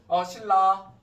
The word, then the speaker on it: 신라: 자, 그래서 신라 뭐라고 발음한다? 신라. 여러분 나중에 발음 헷갈리시면 순간적으로 빠르게 3번에서 5번 연속으로 발음해보시면 그게 원래 발음이에요. 신라. 그죠? 예, 신나가 아니죠? 예, 신라입니다.